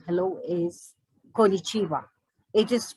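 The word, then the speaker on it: こんにちは: and the japanese form of saying hello is konichiwa it is pronounced exactly the way it is written so konichiwa or hello in japanese so after talking about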